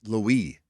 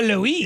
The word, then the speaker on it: Louis: By the way, it's Louie. Is it? It is. Kyle Louie. It is Louie.